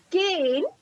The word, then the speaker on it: cane: When E is added, it becomes cane. The vowel becomes long. At the same point of time, E is silent.